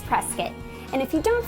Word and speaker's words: Prescott: Even though the name looks like it should be pronounced Prescott, it's Prescott.